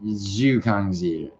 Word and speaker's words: Li Jingliang: Um and um you know, I mean, you know, obviously um How do you pronounce this dude's name? It's Li Jingliang, Jingliang, right?